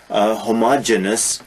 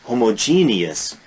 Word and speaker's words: homogeneous: other heterogeneous and homogeneous often mispronounced homogeneous no homogeneous heterogeneous e-o-u-s heterogeneous is mixed